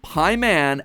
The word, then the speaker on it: Paimon: All three of them, Bael, Pie Man, and Ba lamb, are phonetic ways of pronouncing the names Bael, Paimon, and Balaam, three king demons from the Ars Goetia.